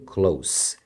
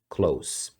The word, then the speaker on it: close: aqui ó se pronuncia Close esse final aqui é com um som de S Close Não confunda com Close